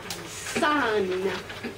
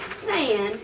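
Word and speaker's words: 三: Josie all right and you pronounce it sun not sand but Sun so we have e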